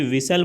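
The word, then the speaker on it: whistle: अगला प्रश्न है विच letter is silent in the word विसल, तो विसल में आप जैसे ही विसल बोलते हैं एच नहीं बोलते हैं और साथ ही साथ टी नहीं बोलते हैं, तो आपका ऑप्शन बी सही हो जाएगा।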